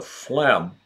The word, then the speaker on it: phlegm: was worried about the phlegm in his patient's chest physician phlegm phlegm now completely silent G the bust of Einstein